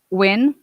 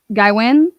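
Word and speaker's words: Nguyen: Oh, it's it's pronounced Win. Guyen?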